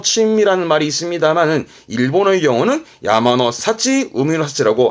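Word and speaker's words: 山の幸: 이때 발음이 좀 특이한데요. 발음은 야마노 사치입니다. 발음이 야마노 사치. 산의 행복이 아니고 행운스럽게도 산에서 얻은 거, 그러니까 산에서 채취한 뭐 나물이라든가 그런 열매라든가 그런 것들을 야마노 사치, 바다에서 얻은 거는 우미노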